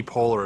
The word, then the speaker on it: Poehler: think i've ever heard her last name pronounced yeah okay okay so marketing take away here karen turn a negative into a positive and get more press if amy poehler wants to come on